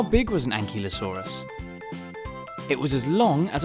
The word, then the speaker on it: ankylosaurus: velociraptor how do you say that again an key low saw russ how big was an ankylosaurus it was as long